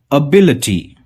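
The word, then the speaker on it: ability: पहला वर्ड है अबिलिटी। आप ध्यान से देखिए मैं कैसे प्रोनाउंस कर रहा हूं इसे, अबिलिटी, अबिलिटी, अबिलिटी।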